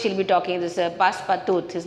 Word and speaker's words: Passepartout: will be talking, this Passepartout. His name is Passepartout, okay. So the pronunciation is the pronunciation should be in a French language, okay.